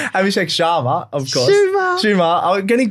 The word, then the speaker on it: Abhishek Sharma: I don't know why I keep saying his name wrong. Abhishek Sharma, of course.